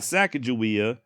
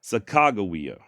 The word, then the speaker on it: Sacagawea: However, not a single one of those spellings is with a J, always with what appears to be a hard G. Guh. Furthermore, according to Meriwether Lewis, her name means bird woman in Hidatsa. And in the Hidatsa language, the proper way of saying bird woman is something along the lines of Sacagawea. Not Sacagawea, Sacagawea.